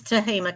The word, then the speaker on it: Tehama: It's Tehama County.